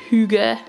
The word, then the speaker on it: hygge: to February and I'm going to use these Huga that's how you say it um sticker sheet